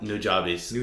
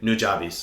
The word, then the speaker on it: Nujabes: five only nujabes first and foremost who's that nujabis um rest in peace he was a Japanese